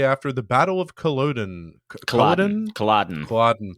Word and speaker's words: Culloden: Culloden, I believe is how you say it.